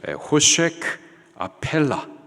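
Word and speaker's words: חֹשֶׁךְ אֲפֵלָה: 캄캄함 흑암 같은 말이죠 히브리식 발음으로 호크 아펠라 같은 말입니다 동이에요 같은 단어를 두번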